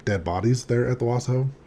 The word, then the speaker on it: Washoe: Paul always called it the Washoe Club. So that's just what I knew it as, the Washoe Club. No extra syllables. Yeah, no letter A's.